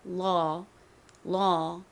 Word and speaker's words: law: 그리고 뒤에 AW, 먼저 미국식으로 이 단어를 읽어보자면 발음이니까 law, 요렇게 발음이 됩니다.